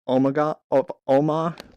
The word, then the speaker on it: Omagh: This photo was taken moments before in 1998 in the Ireland town of Omagh. I don't know how to pronounce that. There's a silent GH in there.